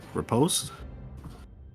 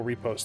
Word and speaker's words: riposte: Yes, I was reading my armor has an effect, critical riposte.